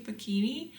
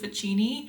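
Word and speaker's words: Fachini: college, and I think with Italian you're supposed to say Facchini, but everyone here calls it Ficini, and I just hate being that person that like pronounces things correctly.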